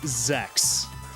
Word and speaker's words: ZX: Like, if you read the hiragana under the ZX, it's Zex. So if I really wanted to be a hipster about it, I could just call it Mega Man Zex. Like, that's just the proper Japanese pronunciation.